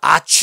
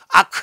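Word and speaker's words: arch: arc 에 차 그랬죠 아취 라고 발음하지 않고 k 로 발음 온에어 아크 레인저 그래요 그대 천사라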